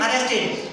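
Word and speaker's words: arrested: ई एस टी, अरेस्ट, अरेस्ट में ईडी लगा देंगे तो ये ईडी की आवाज देने लगता है, तो डी जो होता है ईडी की आवाज देता है तो बोलते हैं अरेस्टेड।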